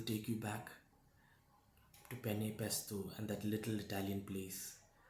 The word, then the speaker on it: pesto: Does the scent of fresh basil take you back to penne pesto and that little Italian place outside our stage, La Bella something? Of course, you always mispronounced it presto.